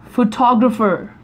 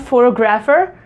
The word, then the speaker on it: photographer: this photography is a photographer photographer it's not photograph er it's photographer photographer photographer photographer right